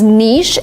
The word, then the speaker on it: niche: better to say Niche we have two pronunciations and they are the same some people say nich and some people say Niche nich is closer to the original pronunciation that is French but in America people say both equally one is not better or worse than the other you can say niche or